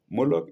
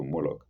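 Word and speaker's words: Moloch: Moolok is spelled M O L O C H.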